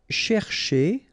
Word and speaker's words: chercher: here, this first part, you've got to pronounce it cher, okay? But the second part, because it's ending with er like that, so it should be e, so chez, okay?